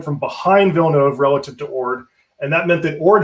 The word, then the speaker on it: Orde: With 11 ships coming at him from the east and 6 ships in Cadiz ready to sail, Orde was outnumbered about 3-1 or more.